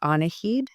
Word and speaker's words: Annahid: But when September 11th happened, 9/11, I actually reclaimed Annahid, my full name and the Persian pronunciation of the name, as a way of